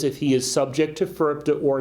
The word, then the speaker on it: FIRPTA: If you're not familiar with FIRPTA, it stands for Foreign Investment in Real Property Tax Act, FIRPTA, pronounced in our industry as FIRPTA.